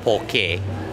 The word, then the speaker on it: poke: It's actually pronounced poke, like K-A-Y, but it's what it is traditionally in Hawaii was a preservation process before refrigeration.